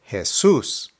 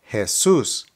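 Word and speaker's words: Jesús: first one is Jesus because the accent is over the U the pronunciation is Jesus Jesus the ancient Spanish is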